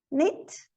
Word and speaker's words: knit: Knit, knob, no, knuckle. O L não é pronunciado em cough, talk, could, should, would.